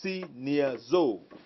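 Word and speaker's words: σινιάζω: the greek it's so take the pronunciation as it comes see near zou okay it means to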